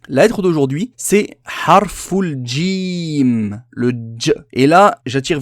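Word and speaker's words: جيم: qui est très répandue c'est le fait de prononcer cette halle est là comme un gie français ce n'est pas jaloux j le gie arabes ne se prononce pas pareil à la sonorité c'est comme s'il y avait un des juste avant que dja djé djé et ce n'est pas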